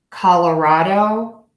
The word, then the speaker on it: Colorado: keep going called raw dough call raw dough Colorado Colorado Colorado again I'm using true words hear